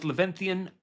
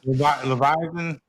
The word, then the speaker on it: Leviathan: Tha prisons are as lethan Unbound sorry did I say it right Le lethan Unbound Leviathan yeah strip away society and